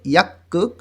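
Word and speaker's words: 약국: গিয়ক বাচ্চিমের পরে যদি আবার গিয়ক আসে দুইটারই উচ্চারণ ক হবে, এই জন্য উচ্চারণ হবে ইয়াক্কুক ফার্মেসি।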